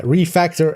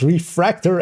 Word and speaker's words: refactor: And with the addition of refactor in this season, um, and it is, yeah, refactor and not refractor as I, as I myself as well quite often say it wrong, but so yeah, excuse me if I do.